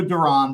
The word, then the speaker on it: Duran: I'm going to go Duran because I heard him say it, and I'm going to honor that pronunciation for now.